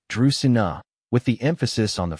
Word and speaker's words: Dracaena: Dina is pronounced Dusina with the emphasis on the first syllable.